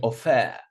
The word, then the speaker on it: offer: I'm not saying offer. Offer on the first syllable.